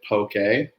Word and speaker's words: Poké: The accent on the E, which is what makes it Poké, doesn't translate into digital language.